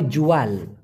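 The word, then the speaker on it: jual: আর বিক্রয় করাকে বলা হয় জুয়াল, জুয়াল, উচ্চারণটা হবে জু আল, জুয়াল মানে বিক্রি করা, আর বলি মানে ক্রয় করা অথবা কোনো একটা কিছু কেনা।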